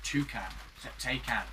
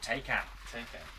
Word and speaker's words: Taycan: So that, say that is the new electric Porsche Taycan. Keep saying it wrong. Taycan.